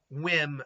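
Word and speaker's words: Wim: whim but well it's I think it's pronounced whim but it's spelled whim wiim so yeah I um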